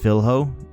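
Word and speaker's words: Filho: New studies have showed that it is pronounced Philho.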